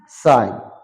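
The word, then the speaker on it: sign: যেমন সাইন, জি সাইলেন্ট।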